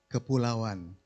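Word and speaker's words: kepulauan: as maritime Southeast Asia the Malays called kapulawan the Malay word pulao means island kapulawan means archipelago right so there the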